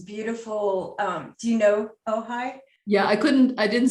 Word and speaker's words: Ojai: pronounce it oh yeah it's a tricky one o j a i it's too much indian oh hi so my husband and